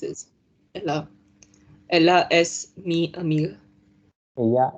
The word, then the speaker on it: ella: It's Ella. 6 is Ella. Ella es mi amiga. Ella es mi amiga. I told previously also double L is generally pronounced as ya sound.